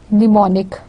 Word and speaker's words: mnemonic: It is mnemonic.